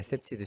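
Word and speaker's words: CPTED: 발음이 어떻게 되죠? 네. 셉티드랑 네, 셉티드. 셉테드라고 부르. 네네, 셉티드.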